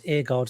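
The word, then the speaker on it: Aguerd: pronounce his name, but Iain told us before it's Agard, so I'm going to go with Agard.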